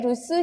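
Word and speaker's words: 留守: Yang kedua, chichi wa kyou shuchou de rusu ni shite iru. Ini ketemu sama kanji lagi, jadi dibacanya su. Ya, gitu ya, rusu.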